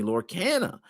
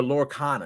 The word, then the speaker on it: Lorcana: speculation that the stolen cards were from Disney Lord Canna because Disney or lorcana excuse me I might be pronouncing that we're on Disney lorcana a highly